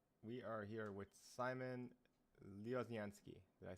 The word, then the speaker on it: Lioznyansky: So we are here with Simon Lioznyansky.